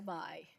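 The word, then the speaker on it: Bayh: My name is Bai, B-A-Y-H, pronounced Bai because nobody can say it.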